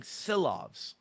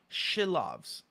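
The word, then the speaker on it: Šilovs: We've been saying Silovs, you know, pronouncing it. Um, but he the the the announcer today was saying Shilovs.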